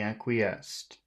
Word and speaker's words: acquiesced: aest okay but there's you're saying two syllables but it has three syllables acest acquest a a